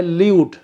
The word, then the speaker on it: lewd: तीसरा शब्द होता है ल्यूड, इसको लूड भी बोलते हैं, ल्यूड भी बोलते हैं, इसके स्पेलिंग होते हैं LEWD।